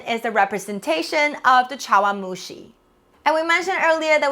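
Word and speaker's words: 茶碗蒸し: cup in japan is the representation of the chawamushi and we mentioned earlier that we're also going to learn the japanese pronunciation for this dish in japan they use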